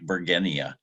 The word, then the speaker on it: bergenia: you do pronounce like bergenia there was a Count von Bergen and it's named after so it's a hard G Virginia we call it